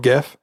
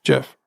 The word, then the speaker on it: Gef: I'm going to stop here and mention that Jeff is spelled gef and I kept thinking that it was called gef but on the Wikipedia article you know how